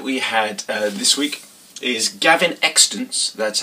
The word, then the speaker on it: Gavin Extence: the choice that we had this week is Gavin extant that's how you pronounce it a first-time writer debut author the